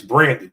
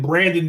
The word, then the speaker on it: Braden: I thought his name was Brandon. I've been saying Braden Fiske. It's spelled Braden.